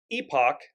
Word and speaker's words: epoch: Awakening of Epic an Epoch that's how it's pronounced in British English Epoch proportions so it's